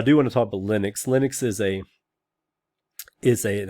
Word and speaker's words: Linux: but uh i'm just gonna say the accepted pronunciation by most people is linux which is actually neither name right because it's